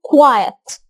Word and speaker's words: quiet: الكلمة دي معظمنا بينطقها غلط. لو دخلنا على القاموس هنلاقي هنا في زي علامة W، يعني بنطلع صوت و فنقول quiet. يبقى معظمنا بينطق الكلمة دي غلط.